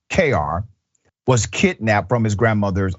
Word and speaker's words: Cuellar: The officer raised the suspicions of an FBI agent who was also at the crime scene where baby Brandon, is pronounced KR, was kidnapped from his grandmother's apartment in San Jose on April 25th.